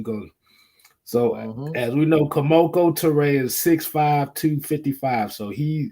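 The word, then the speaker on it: Kemoko Turay: Kamoko Toure.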